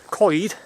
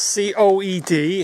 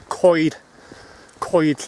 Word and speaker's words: coed: we've done it's time for a Welsh lesson coid is wood van means and it's c-o-e-d it's not pronounced coed it's pronounced as if you're saying seal Whitey coid coid language lessons in my walks anyway head